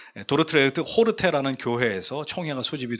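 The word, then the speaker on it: Dordrecht: 아고 이렇게 표현하는데 원래 그 원지명 이름은 도르 도르트 레흐트 도르트 레흐트 예 어려워요 발음이 도르트 레트 호르테 아는 교회에서 총회가 소집이 됐는데 1619년 5월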